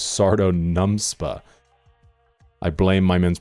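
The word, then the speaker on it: Sardo Numspa: Though I may have said Sodom Nums after later realized the character's actual name was Sardo NumPa."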